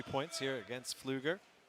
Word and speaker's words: Pfluger: Double leg scores 3 points here against Pfluger. It's a very good German pronunciation there, son.